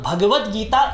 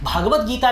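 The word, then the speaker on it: भगवद्गीता: महापुराण में फर्क करें भागवत गीता नहीं होता है उच्चारण गलत हो जाता है भगवत गीता होता है और भागवत महापुराण होता है तो इन्हीं शब्दों के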